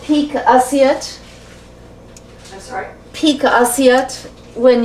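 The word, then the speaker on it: pique assiette: Isn't this called peak assiette?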